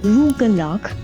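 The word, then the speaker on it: rugelach: Rugluck, sometimes pronounced rugalak, comes from the Yiddish word for little twists or little corners.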